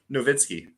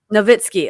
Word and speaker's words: Novitzky: mess how do you say your last name novitskiy novitskiy okay i heard you saying on the videos